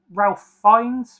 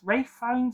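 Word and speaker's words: Ralph Fiennes: This stars Jeremy Rener, Anthony Mackey, Brian Gerati, Evangelene Lily with Ralph Fines, Rafe Fines, I always say his name wrong.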